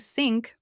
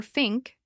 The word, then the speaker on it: think: unsure about this movement and end up saying sink or think instead. Now imagine you're in front of a mirror. You say the word slowly. Think. You can see if your tongue is visible. You can check if your mouth is too closed or if you're keeping your tongue behind your teeth.